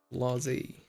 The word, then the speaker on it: blasé: Blasé. Blasé. Yeah, I said it right. Blasé. I gave it some of that French accent. Blasé. Because of the accent mark.